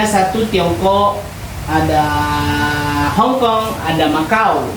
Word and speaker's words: Makau: Negara-negara di Asia yaitu ada satu Tiongkok, ada Hongkong, ada Maau. Makau ini bukan makau cara bacanya ya. Maau Jepang, Korea Utara, Korea Selatan, Mongolia, Taiwan.